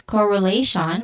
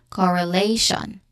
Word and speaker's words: correlation: Pronunciation wise, correlation, we start with core, which is a short O sound, and then which is a schwa sound, And then lay, which is the stressed syllable, has a diphthong here, A. And then again, Tion, shun. So this is correlation.